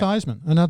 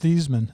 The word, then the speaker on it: Theismann: It was pronounced Theismann. Yeah, Joe Theismann. He changed it to Theismann. Because it rhymed with Heisman, so he he'd have did a better chance.